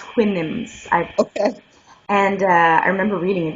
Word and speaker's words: Houyhnhnms: It's spelled Hou, but it's pronounced Houyhnhnms.